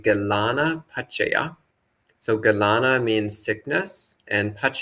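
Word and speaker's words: gilānapaccaya: So Galanpasa, this is the Sri Lankan pronunciation of the Pali Galana Pachaya.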